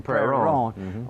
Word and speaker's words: Prairie Ronde: Well, I said, I always said Plaisance, and I'm sticking by But you got to say it right. You got to say Prairie Ronde. Prairie Ronde. That's how Prairie Ronde.